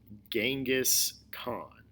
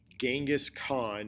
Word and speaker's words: Genghis Khan: Not a G sound, but more of a CH sound, like a Genghis Khan instead of Genghis Khan.